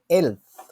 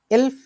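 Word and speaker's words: elf: এখন হচ্ছে এর পরের যে নাম্বারগুলো আছে এর মধ্যে কয়েকটা নাম্বার হচ্ছে একটু অন্যরকম ভাবে উচ্চারণ করে, এগুলো হচ্ছে আপনার এখান থেকে শুরু। 11কে বলে হচ্ছে এলফ, 12কে বলে সোলফ, 13কে বলে দ্রাইসেন, 14কে বলে ফিয়ারসেন, 15কে বলে ফুমসেন।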